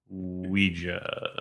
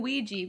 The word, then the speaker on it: Ouija: one and we watched Ouija stop saying Ouija they don't even say Ouija in the movie you were saying Ouiji before we got on the air